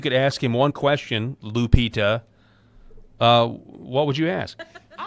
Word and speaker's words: Lupita: Uh, Lupita. Lupita.